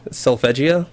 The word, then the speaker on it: Solfeggio: what's the skill called self a Gia so I pronounced it I'm pretty sure it's Italian so it that scale